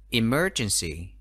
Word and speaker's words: emergency: five in Russian City Emergency từ có bốn ăn tuyết thế mà triển C trọng âm đánh vào âm tiết thứ hai Tìm mới chuyên sỉ